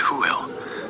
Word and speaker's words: Hwyl: But the classic Welsh farewell is "Hwyl," pronounced "Hoo-il."